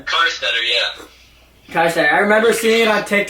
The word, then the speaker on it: Karsteter: Karsteter, yeah.